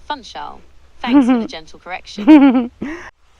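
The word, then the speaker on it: Funchal: beautiful Chameleia collection and the amazing views of Fanchel. What would you like to know more about? Ooh. Um, I'm quite interested in the way you said Fanchol.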